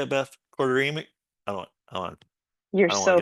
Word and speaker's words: choroideremia: Quarteremic? You're I don't want so to get it wrong. close. It's 5 syllables. Choroideremia.